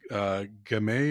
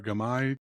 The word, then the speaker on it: Gamay: It's mostly cab, but there's and I'm going to mispronounce this, Gamay or Gamay, Tim? Gamay.